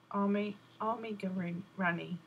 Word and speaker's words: amigurumi: Pronounce it like Amigurumi. Amigurumi.